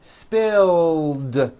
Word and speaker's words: spilled: i tagged the clothing spill ends with a voiced l sound spill so it becomes spilled i spilled the juice